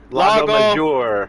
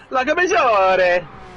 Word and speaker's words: Lago Maggiore: I always mispronounce the name. Lago Major. Major. Major. If you hold your 4 fingers together, you say Lago Maggiore.